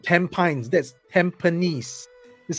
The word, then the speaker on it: Tampines: And my wife worked in, that's not Tampines, that's Tampines. This is how we pronounce it.